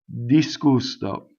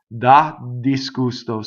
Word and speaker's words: disgusto: Okay, ddisgusto. So da is a short vowel and it causes a phrasal doubling. Ddisgusto.